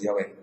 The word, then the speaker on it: Yahvé: Pero lo que sí nos debe quedar claro es que la palabra Jehová es una falsa pronunciación del nombre de Dios. Lo correcto es Yahvé.